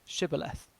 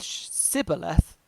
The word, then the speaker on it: shibboleth: they said all right say shibboleth if he said sybileth because he could not pronounce the word correctly they seized him and